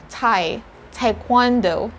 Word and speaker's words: taekwondo: they say again taekwondo correct me if my pronunciation is wrong in english we say thai taekwondo so the very difference there is the first